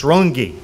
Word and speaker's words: Runge: And because if you know anything about the name Runge, the proper pronunciation was Runge.